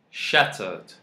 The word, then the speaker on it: shattered: If you won't say it like native speakers, you can say, I am shattered. Yeah, T is silent here. We call this in phonetics glottal T.